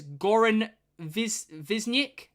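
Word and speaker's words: Goran Višnjić: The actor who played Nikola Tesla is Goran Visnik, I think is how you pronounce it.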